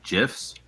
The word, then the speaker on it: GIF: why Meg calls gifs gifs it's a gif you don't need a knife to GIF anymore it's a gift it's a a hard G listen I work in